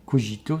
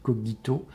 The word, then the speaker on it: cogito: Mais l'acte fondateur, c'est de se dire: je pense, cogito ergo sum, pour ceux qui prononcent le latin avec l'accent cicéronien, c'est pas cogito, c'est cogito, je pense, ergo sum, donc je suis.